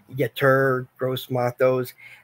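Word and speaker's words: Yetur Gross-Matos: Yeah, Yetur Gross Matos.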